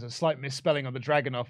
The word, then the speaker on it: Dragunov: It is like Dragunov as opposed to Druganov, which is how it's spelled.